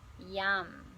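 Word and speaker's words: yam: the anahata chakra is Yum it's spelled y-a-m but it sounds like yum pretty appropriate for this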